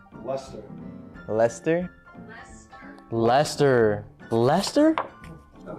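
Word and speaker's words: Leicester: of close Okay ler Final Answer le le leester God this one's going to be weird leester leester leester it's pronounced Lester Lester Lester Lester Lester that makes sense that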